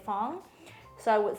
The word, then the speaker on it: Phuong: if you see the word people usually say Fong so I would say you would spell it like typhoon like typhoon typhoon yeah okay